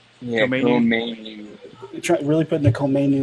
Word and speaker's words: Koma Inu: It's KOMA INU. Is that right? Yeah, KOMA INU.